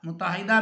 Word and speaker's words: متحدہ: ہو گیا تھا، متحدہ، متحدہ میں میم پر پیش، تے پر شد اور زبر، ہے کے نیچے زیر ہے اور دال پر جو ہے وہ زبر ہے،